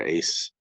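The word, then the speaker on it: Æsir: Ice or Ace, AES is how it's spelled.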